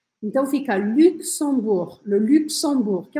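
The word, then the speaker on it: Luxembourg: francês e o português o país é o luxemburg luxemburg lembra que o Geno final a gente não vai falar e o x a gente vai fazer um som assim ó então fica luxemburg Luxemburgo que é um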